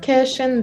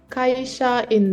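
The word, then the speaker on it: 会社員: First of all, it's not cash in this, it's kaisha in this. Kaisha. Kaisha in this. In Japanese, we pronounce all the syllable separately. Okay. Like in English, sometimes some letters are silent. We don't pronounce it clearly. But in Japanese, we always pronounce all the syllable clearly. So it is kaisha in.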